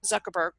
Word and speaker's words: Zuckerberg: you to work on I noticed as you're pronouncing Mark Zuckerberg that you tended to rely on your Chinese interpretation of the letter Z or Z so there's an opportunity